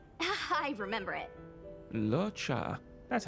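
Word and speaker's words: Luocha: Locha.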